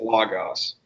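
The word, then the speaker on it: λόγος: Logos. Logos. Okay? So if you're using the Erasmian pronunciation, it's Logos.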